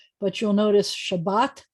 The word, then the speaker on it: Shabbat: But you'll notice Shabbat, the accent's on the second syllable.